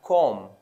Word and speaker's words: comb: In the next word, we have comb, comb. We normally say comb my hair, so the B shouldn't be pronounced.